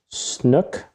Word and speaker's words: snook: sounds a little tougher it rhymes with cook snook what is that one